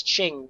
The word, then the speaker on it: Ching: Also, to just to confirm, Sejuani's pronunciation of the name is Ching. It's inverted? Yeah, Is it yeah, it's an inverted? inverted ching.